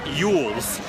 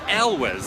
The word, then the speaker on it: Elwes: So Tyler thought it was Carrie Yules. Yules. And I'm like, dude, and he corrected me so much. I thought I was wrong for calling him Carrie Elwes. I've heard a lot of people say It's Yules, but I might have Carrie- just heard him Carrie say it. Elwes. Elwes Yes. or Elwes. ELWES is not Yules.